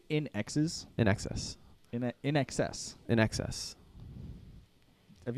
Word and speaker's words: INXS: the whole time no in axis in excess in excess well I said it wrong it's INXS in excess right but you're still